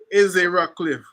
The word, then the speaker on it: Ezzie Rockcliffe: and he said well the correct pronunciation is e e rockliff but along the way